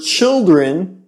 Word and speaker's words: children: You notice that the word child has a long I sound and the word children has a short I sound.